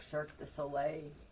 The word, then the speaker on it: Cirque du Soleil: Somebody actually managed to veer off the road and drive into some carnival or friggin' some trailer park, Cirque du Soleil, where it's spelled SOLAY.